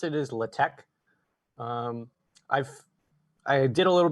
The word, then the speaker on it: LaTeX: how you pronounce this um this isn't uh latex you don't pronounce this latex like the uh like the material the way i pronounce it is latex i've i did a little bit of research